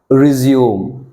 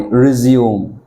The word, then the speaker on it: resume: The first letter R, but never pronounce Ra. Instead, you should pronounce Re.